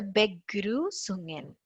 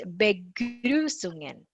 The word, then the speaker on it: Begrüßungen: That U is Ü. That's a very, very different sound which we don't have in English. Of course, there is no sound in Tamil. I don't know about Malayalam. We don't have the sound Ü. It's like, you are nicely whistling when we just keep our whistle like that, no? Ü. That's the Ü.